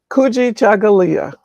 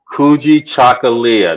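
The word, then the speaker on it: Kujichagulia: second okay what was the word how you pronounce it again kuji chagalia kuji chocolia number two with self-determination I may Embrace that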